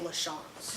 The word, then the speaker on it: LaChance: you hello hi i'm i actually pronounced my last name lachanze yeah and i know it's no offense it's okay sandy everybody does it spelled the chance everybody gets it wrong but it's lush so i always say